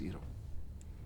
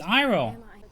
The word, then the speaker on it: Iroh: My name is Iro. Iro? That's Iroh. Did nobody watch the show for pronunciations?